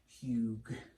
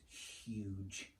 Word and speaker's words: huge: Now, this looks like a g, so you might read it as hug, hug. But actually, sometimes it's pronounced as a j, so it's huge.